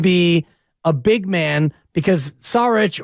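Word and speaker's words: Šarić: a big man because sarich or shich as uh Bobby Fitz would have us all pronounce it correctly I believe so it's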